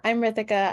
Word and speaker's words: Ritika: Okay, if I'm not mispronouncing it, I think it's Ritika. Yeah, you pronounced it perfectly. I'm Ritika.